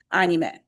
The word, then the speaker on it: anime: Then in this club, we're going to use Japanese pronunciation, and it's anime.